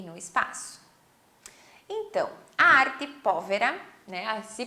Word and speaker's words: Arte Povera: contextualizando-os no tempo e no espaço bom então arte pólvora né ah se pronuncia assim mesmo ela foi um movimento aí